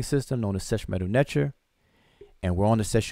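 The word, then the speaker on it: nṯr: And we pronounce this transliteration Netcher. Netcher. Some people pronounce it Netter, like N-E-T-E-R, Netter. But most of us pronounce it Netcher. That underlined T has a C-H sound, like church.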